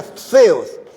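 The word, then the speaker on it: θεός: la palabra para Dios se pronuncia feos pero se escribe con t teos Ese es el nombre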